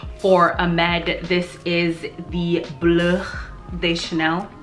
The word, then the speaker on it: Bleu de Chanel: This is the Bleu de Chanel. I don't know why I decided to say it like that, but that's kind of how you're supposed to say it.